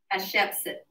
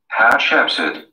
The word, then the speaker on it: Hatshepsut: Hatshepsut. Hatshepsut.